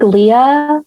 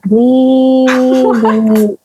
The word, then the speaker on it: Leia: I think Leia, as far as Leia, is pretty straightforward, especially if you're like Star Wars fan, right? Like Princess Leia, it's spelled that way. But actually, some people have a problem with it. They're like, is this Lee?